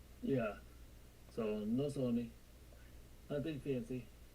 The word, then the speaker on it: Sony: Sonny or Sony? Sony like Sony PlayStation.